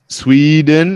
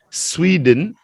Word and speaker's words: Sweden: Now, Sweden, it's not sway, it's swe. Sweden, Swedish.